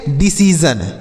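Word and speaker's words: decision: छोटी ई की मात्रा उसके बाद एस आई ओ एन को हमने बताया कि जन लिखना है तो यह हो गया जन तो इसे क्या पढ़ेंगे डिसीजन इसे क्या पढ़ा जाएगा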